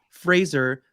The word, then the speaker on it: Fraser: it's really she let Frazier make or Fraser sorry I gotta say his name correctly Fraser make that she let